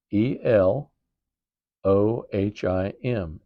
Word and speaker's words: Elohim: And then a form of that is Elohheim. E L O H I M.